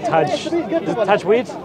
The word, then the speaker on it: Tajweed: Is it Tajweed? Tajweed, yeah.